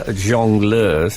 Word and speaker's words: jongleur: I was once introduced as, at the Jongleurs in Battersea, that club.